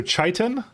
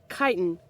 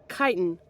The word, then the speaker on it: chitin: wanna search GitHub unrelated chitin chitin okay so we're both wrong it's not chai chitin USA with a hard C yeah that was a